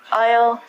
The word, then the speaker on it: aisle: also sound like this the s in these words are silent we don't say izl and I so we say aisle aisle aisle this aisle is a